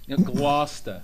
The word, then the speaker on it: Gloucester: all the way from Gloucester. Is that right? Gloucester, I Massachusetts. said that right, didn't I? Not really. No. You have to, it rhymes with Hoffa, kind of. Gloucester.